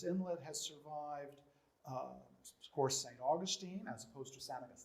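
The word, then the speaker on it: St. Augustine: of the city of saint augustine is spanglish rather than sand we have saint we spell it as if it was in english but we pronounce it as if it's in spanish okay and then we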